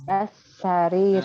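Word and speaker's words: على السرير: Jadi alas. Langsung bacanya alas. Alasariri.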